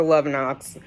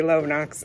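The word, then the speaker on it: Lovenox: day i start the love knocks love knox i know i say it wrong it looks like love knocks and after i say it i'm like oh yeah they say love knox um okay thank you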